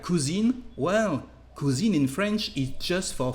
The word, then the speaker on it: cousin: To translate a male cousin in French, the word is and the pronunciation is cousin, cousin. So pay attention to not pronounce all the ends of words in French, to not be confused between masculine and feminine gender.